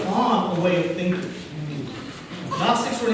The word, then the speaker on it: Gnostics: It's spelled Gnostics, but it's pronounced Gnostics. Sound good? because in English, the G is silent.